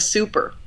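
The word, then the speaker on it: Souper: the place was called the super spelled like soup um and the super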